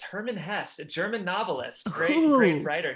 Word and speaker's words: Hermann Hesse: It's Hermann Hesse, a German novelist.